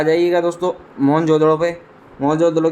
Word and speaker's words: मोहनजोदड़ो: शक्कर जिले में स्थिति मोहनजोदड़ों शब्दों का सही उच्चारण मोहनजोदड़ों है इसकी खोज है कि